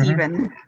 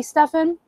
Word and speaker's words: Stephen: Like you look at Yeah. Stephen, it should be Stefan, but for some reason we don't pronounce it that way.